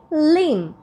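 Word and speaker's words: limb: lamp ছোট ছোট ভেড়া তাই না lamp similarly লিম নট লিম লিম মানে কি মাংসপেশি যেকোনো একটা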